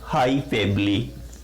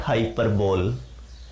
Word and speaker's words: hyperbole: I write, we pronounce it hyperbole, not hyperbole.